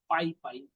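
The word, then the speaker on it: PyPy: Fourth one इज द पाई पाई, पी आई पी वाई है इसका spelling, P आई पी वाई, पाई पाई।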